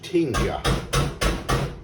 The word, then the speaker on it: Tinga: This is the Mexican, it's actually pronounced tinja, if she stopped banging.